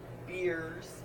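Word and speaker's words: Biers: His name's Robert Beers, but it's spelled B-I-E-R-S.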